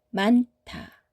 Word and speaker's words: 많다: 은 소리만 선택합니다. 다음은 많다. 많다.